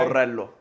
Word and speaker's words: Borrello: Kickboxer Borrello. He just pronounced it for me. Yeah. Did I pronounce it okay? Borrello.